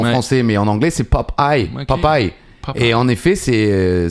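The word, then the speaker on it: Popeye: C'est pop eye pop pour nous en français mais en anglais c'est pop eye popy et en effet c'est ça vient du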